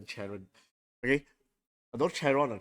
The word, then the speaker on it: Charon: I think it's pronounced Sharon. Like Sharon.